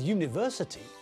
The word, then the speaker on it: university: With university, when we say the word, we pronounce it with a y as the first letter. We say university, not university. So it sounds like the first letter is a consonant.